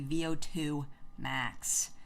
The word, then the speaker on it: VO2 max: here we've got uh as i first called him vaultable max but that is definitely not how you pronounce his username we figured it out here it's actually vo2 max if you have ever